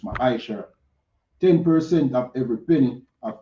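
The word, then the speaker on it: מעשר: verse 8 to 10, means tenth in the Hebrew and is pronounced ma'asher.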